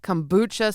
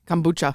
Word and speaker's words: kombucha: gonna try we're gonna go with the buchalata kombucha seltzer from four corners taste it tell me